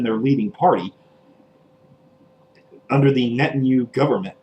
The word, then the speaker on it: Netanyahu: by politicians within their leading party under the netanyahu government it's that's how you pronounce that asshole's name i can't help but